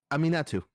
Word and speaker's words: Aminatu: The the pronunciation is aminatu.